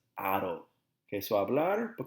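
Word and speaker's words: -ado: off the AR and replace it with a do pronounced as Otto okay so I bladder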